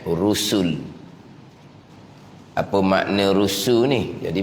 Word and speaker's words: رسل: Dia eja ra sin lam, bacanya dengan rusul.